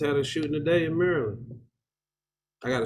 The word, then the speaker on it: Maryland: a shooting today in maryland i got to say it like y'all y'all gotta say yeah it's merlin i gotta say like